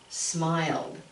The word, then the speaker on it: smiled: sound at the end, that E is silent. So how do you say it then? Not smiled, we say smiled, smiled. Put that D on it. And since it has an E, all we do is add the D.